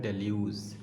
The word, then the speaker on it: deluge: तो हमारा जो पहला वर्ड है वो है डेल्यूज़, ठीक है। डेल्यूज़ का मतलब क्या होता है? सबसे पहले हम स्पेलिंग देख लें।